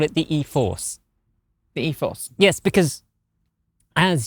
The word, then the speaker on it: e-4orce: the 2023 Nissan Ariya e-4orce. This is the premium. Did you not read the press release? No. Oh, it says specifically that you don't pronounce it e-4orce.